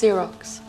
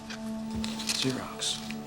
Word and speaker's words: Xerox: starts with an axis um it's greek it's pronounced xerox xerox so we can start with the signature card